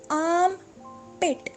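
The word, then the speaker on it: armpit: पार्ट है वो है आम पेट आम पेट अब इसमें जो आम और साइलेंट है हमारे पास तो हम इसको आर्म पिट नहीं बोलेंगे हम इसको आम पिट बोलेंगे आम पेट बगल बगल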